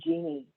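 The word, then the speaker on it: Jini: i worked on the genie project it's spelled j-i-n-i but pronounced like the woman's name genie and genie was really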